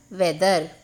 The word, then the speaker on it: whether: வெதரோட ஸ்பெல்லிங்கில் பார்த்தீங்கன்னா இங்கே ஒரு ஹெச் இருக்குது. இந்த ஹெச் அப்படிங்கிறது சைலண்ட். இங்கே அதோட சத்தத்தையே நம்ம சொல்ல மாட்டோம். நீங்கள் சொல்லும்போது ஹெச் இல்லை அப்படின்னு நினச்சிட்டு சொல்லணும். ஸோ வெதர் வெதர் வெதர் இந்த இங்கே வந்து நம்ம டபிள்யூ யூஸ் பண்ணுறோம்.